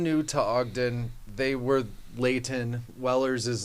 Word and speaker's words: Layton: If you're from Utah, you pronounce Layton.